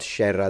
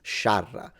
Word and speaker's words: sciarra: scerra, lite, No, it's not scerra. That's wrong. It's spelled correctly. It's sciarra. The A is pronounced A, not E.